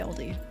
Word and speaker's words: olde: Ye olde was actually just pronounced old. Ye old. Ye.